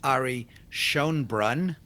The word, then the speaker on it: Ari Schonbrun: with them who you are and the correct pronunciation of your name okay so first of all my name is Ari shonbrun yes correct um I live in New York